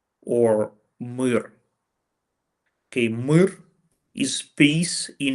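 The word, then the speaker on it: мир: drawing with the word mir or mir. Okay, mir is peace in Ukrainian. Mir, which is written absolutely the same, just Ukrainian and Russian pronunciations are different, is a peace in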